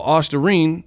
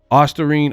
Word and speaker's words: Ostarine: previous videos, they spell Ostarine wrong. Osterine. Ostarine. And it's littered throughout this and it's misspelled. If you look up Ostarine, it's not spelled with an E. It's O-star-ine. O-star-ine.